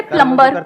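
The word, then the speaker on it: plumber: सर जैसे प्लम्बर, सब लोग प्लम्बर बोलते हैं हमारे देश में, बढ़िया है यार, क्या दिक्कत है? बी साइलेंट है उसमें।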